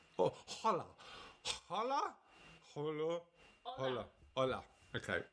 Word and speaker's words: Hola: There's always H's. All right. You don't pronounce them. All right. Okay. Hola. Oh, hola.